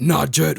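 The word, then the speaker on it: Najd: Where'd you get Najed from?"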